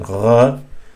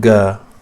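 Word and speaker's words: غين: in the Western Norway, as in gha. So it's very easy. It's not ga, so don't please never say it ga, because ga sound is completely absent in Arabic.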